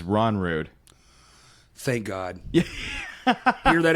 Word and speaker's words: Rognrud: You disregard the G, and it's Rognrud.